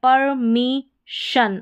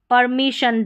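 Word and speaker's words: permission: यहां पर है परमिशन अब यहां पर देखिए शन आ रहा है परमिशन डबल एस को भी जैसे हम एक एस को पढ़ते हैं वैसे ही डबल एस का उच्चारण होगा तो यहां पर श करके है तो एडमिशन यहां पर परमिशन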